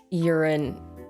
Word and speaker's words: Yurin: It really is urine, like urine, but that's so unfortunate. Oh my god, can I overlook that? Kong Yurin, oh no.